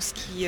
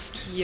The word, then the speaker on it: ce qui: that I was wrong earlier today, and she says, Donc ce qui est. right. Everybody hears that? Yep. Mhm. And of course, she does pronounce it as ski and not two syllables, Right.